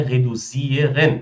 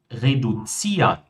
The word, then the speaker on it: reduzieren: Verbos que terminam em iren são pronunciados como ian. Então, nós não vamos ter, pessoal, primeiramente, não é reduzieren, tá? Se você está pronunciando assim, já está errado.